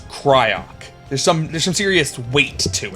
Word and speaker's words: Cryoc: And nobody disagrees on how you pronounce Cryoc. It's just Cryoc. It sounds strong. It's like a serious name. It's Cryoc.